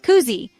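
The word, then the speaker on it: kuusi: senses Cousy means six say cou like a pigeon then say C like you're showing someone something cool say it Koozie think of a honeycomb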